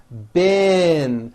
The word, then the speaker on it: been: However, this word, B-E-E-N, spelled with a double E, is pronounced with a low I sound. Bin, like in the word hit.